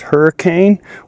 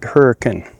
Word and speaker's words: Hurricane: area like Utah, but they also don't pronounce it Hurricane, they pronounced it Hurkin.